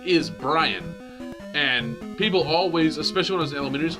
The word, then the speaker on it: Brian: calling you be Ryan Oh Brian Brian there are two syllables in my name Brian and I mean